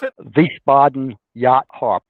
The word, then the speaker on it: Wiesbaden: Is that how you pronounce it? Wiesbaden Yacht Harbor. Wiesbaden, yeah, that's right.